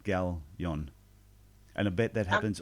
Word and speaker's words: Galyon: I actually said Gaylon instead of Galyon.